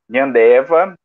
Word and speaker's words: Nhandewa: Então, como a professora já disse, o meu nome, né, é Nhandeva, a pronúncia está correta.